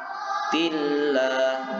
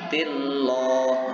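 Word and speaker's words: مرضات الله: Wa masalul ladina yunfikuna amwalahum ibtigha'a mardhatillah. Sekali lagi, wa masalul ladina yunfikuna amwalahum ibtigha'a mardhatillah. Tillah bukan tilloh. Nah, kalau tilloh itu berarti bacanya kurang tepat. Itu berarti cara membacanya secara tafkhim atau tebal.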